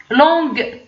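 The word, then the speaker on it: long: شا قطه، ولكن تي لاحظتي كتكتب واحد تي ولكن ما كنكتبوهاش حنا، كنكتبوها مي ما كنطقوهاش، عفوا ما كنطقوهاش. الوغ كاينه الكلمه الاخرى لونغ، فهمتي كنكتبو ال او ان جي، ولكن فاش كنبغيو نطقوها كنقولوا لون، فهمتي.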